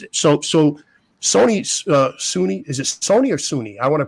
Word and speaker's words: Soonie: So Soonie, is it Sony or Soonie? I want to pronounce it right. I don't want to mispronounce it. Soonie.